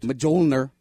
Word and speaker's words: Mjolnir: Mjolnir. Mjolnir. The M is silent. Mjolnir.